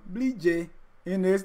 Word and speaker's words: Bleejay Innis: Bleejay Innis. Did I pronounce it right, the Basa way?